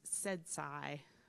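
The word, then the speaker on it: CEDSCI: services and consumer innovation which were pronouncing as said SCI for the acronym so this is how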